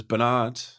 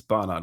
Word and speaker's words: Barnard: Everyone says Barnard. Yeah. It's Barnard.